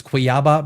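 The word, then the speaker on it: Cuiabá: Let me check the pronunciation just to make sure. Quiaba. Quiaba. My apologies. It's Quiaba.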